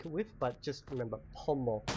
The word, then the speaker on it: pomo: we can link it with but just remember Pomo it's spelled p o m o n again I